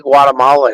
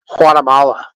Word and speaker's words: Guatemala: from Guatemala you know the proper way to say Guatemala is not with a G it's actually with an H Guatemala that's how you're supposed to say it I'm from Guatemala